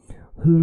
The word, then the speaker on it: hur: Remember, it's not hur, it's not h, it's soft h, h.